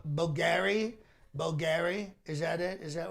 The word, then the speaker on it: Bulgari: Bulgari? Is that it? Is that one of the names? I think it's pronounced Vulgari. Vulgari, that's right.